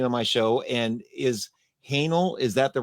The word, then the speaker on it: Haehnel: And is Haehnel, is that the right way to pronounce it? Correct. It is Haehnel, yes.